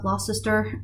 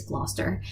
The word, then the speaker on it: Gloucester: It's not Glossister or Glossister. It is Gloucester.